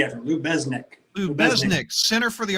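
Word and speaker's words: Lubeznik: Lubizanek. How do you say it? with the Z and then a Z after Lou Besnick.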